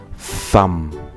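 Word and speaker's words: thumb: คำ นี้ นะ ครับ ต่อ ลง ท้าย ด้วย ตัว B นะ ครับ แต่ ว่า ตัว B เนี่ย จะ ไม่ ออก เสียง นะ ครับ ดัง นั้น เรา จะ ไม่ มี เสียง ค่ะ ตอน ท้าย นะ ครับ ออก เสียง เป็น some some นี้ นะ ครับ ต่อ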